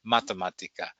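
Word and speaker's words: matematika: Mathematica Mathematica I'm sorry I always put that accent on the first syllable in Slovak Mathematica and you'll see bitsy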